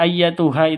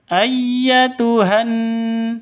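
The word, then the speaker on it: أيتها: dan hamzahnya Ya jadilah jadi ayyatuha itu langsung ke tasdid ayyatuhan seperti itu ya ayyatuhan nafsu ini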